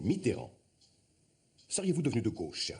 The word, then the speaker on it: Mitterrand: Mitran, c'est le diable. S'il vous plaît messieurs, je vous prie de prononcer son nom correctement. C'est Mitteran.